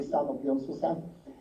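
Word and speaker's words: 산업연수생: Basically, the Japanese Sangyoken Susei were renamed, in Korean pronunciation is going to be Sanok Yonsusen, and the same system as in Japan was introduced in Korea.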